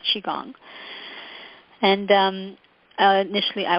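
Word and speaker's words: Qigong: Chi means in Chinese whether it's spelled Chi or Qi it's chiong and um uh initially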